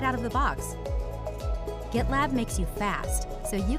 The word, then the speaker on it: GitLab: one of our sponsors gitlab i'm told it is not pronounced jitlab but i'm not willing